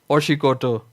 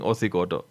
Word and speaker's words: Oshikoto: Look, so someone shouldn't have a lisp and then try to pronounce Oshikoto and then end up saying Othikoto. If you say Othikoto and there's a Kavango nearby, they'll be thinking about a trailer.